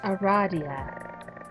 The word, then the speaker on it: Aradia: that love because she immediately corrects you is pronounced Aradia that make sense although you just met you